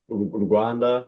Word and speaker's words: Rwanda: Wanda, but I usually say Wakanda because it rhymes the same as Wakanda and the vision, the mission, it's like, you know, we're pushing how turn into Wakanda.